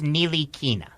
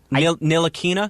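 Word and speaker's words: Ntilikina: Like, is the N silent? Is the T the... I think it's pronounced Nilikina. Nilikina? Nilikina. Nilikina. Like Exactly. Nilikina. Exactly. Okay. I'm pretty sure that's how it's pronounced.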